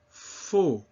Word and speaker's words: faux: AU is pronounced O. It's that same closed O sound that we saw often with the letter O. Répétez. Chaud. Faux.